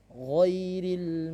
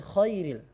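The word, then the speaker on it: غير: Ghairil maghdubi 'alaihim waladdallin. Baik. Kesalahan yang pertama adalah ghairil menjadi khairil. Ini adalah fatal karena akan mengubah arti.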